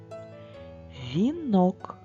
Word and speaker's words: вінок: ненаголошених складах наприклад так вінок наголос слові вінок падає на звук о і букву о буква і в слові вінок не наголошена але ми промовляємо її чітко кавуни наголос падає